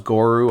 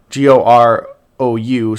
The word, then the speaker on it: Gorou: They forgot the U at the end of his name, so it should be read as GOROU.